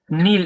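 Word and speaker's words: kneel: নিচে দেখেন নীল এখানে কে এর উচ্চারণ সাইলেন্ট থাকবে নীল নেল নেল হাটু গড়ে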